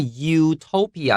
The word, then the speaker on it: utopia: 好，这边要特别注意一下，因为 utopia 这个地方呢，母音